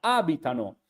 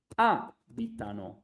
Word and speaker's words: abitano: at the beginner level, whenever you have the third person plural of a verb, you always put the accent in the very beginning, in the first syllables. Okay, so it's not abitano, but it's abitano. Okay, you need to read it literally like this, like abitano.